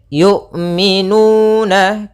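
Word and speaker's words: يُؤْمِنُونَ: Hati-hati jangan sampai terbaca dengan yu. Jangan jangan dibaca dengan ain. Sering juga terjadi kesalahan adalah membacanya dengan ain. Bagaimana cara melafalkan hamzah? Yaitu dari pangkal makhrajnya adalah pangkal tenggorokan kita. yang dekat dengan dada.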